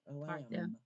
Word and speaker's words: lamb: lamb is an animal remember we don't say the b lamb one knew she knew